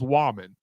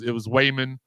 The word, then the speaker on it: Wallman: My last name's Wallman, and for some reason, couldn't nobody in the whole building pronounce my last name. It was Wayman, Wallman, Waffleman, just it was all kinds of wrong.